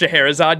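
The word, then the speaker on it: Scheherazade: leave please excuse me it's pronounced shaherazade yeah I know I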